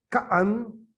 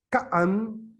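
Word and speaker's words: Ka'an: Entonces, por ejemplo, yo les puedo decir, Kaan, Kaan, con doble A, así, y estoy diciendo cielo.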